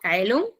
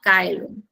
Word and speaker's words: caelum: Luego, Kaelum, el la C en el latín clásico se pronuncia como C, perdón, como K. Eh, por ejemplo, en este caso Kaelum eh lo pronunció como Kaelum con K.